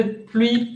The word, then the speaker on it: pluie: Prononciation de pluie, pleut, pleure. Oh là là. La pluie. U. Pluie. Recuerden eso. Boca de U, pero dicen I.